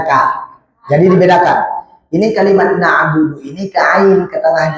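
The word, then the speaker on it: نعبد: Jadi iyyaka na'budu wa. Dari kalimat du ke wa itu harus hati-hati. Iyyaka na'budu wa budu wa. Jangan budu wa. Jangan ada nambah.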